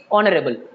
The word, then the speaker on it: honorable: It is are, it is honest, it is honorable.